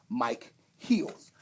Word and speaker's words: Micheals: is not actually michaels a lot of people don't know that it's actually if you look at this r-i-p-m-i-c-h-e-l-s it's actually mike heels so that's actually how you say my name but everybody's kept it